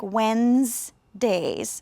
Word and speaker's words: Wednesdays: he works on Wednesdays the word Wednesdays is actually a difficult word you notice the D is not really pronounced when and then that e isn't really pronounced either it sounds more like Wednesdays yeah let's try that